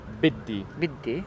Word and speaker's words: بدي: Biddi.